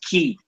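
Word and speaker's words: כי: that or because, and the Hebrew word there is key, like a key in the door.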